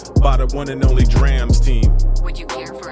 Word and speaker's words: Drams: First and foremost, it's pronounced Drams. Not drums.